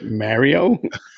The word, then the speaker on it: Mario: She's like, Mario? Yeah, how do you say it? Mario. Oh, that sounds fucking awful. Don't say that. You're saying Mary and then adding an O.